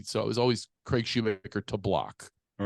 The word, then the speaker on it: Shoemaker: Antonio Banderas rather than pronounce Shoemaker which people say Schumacher but anyway yeah all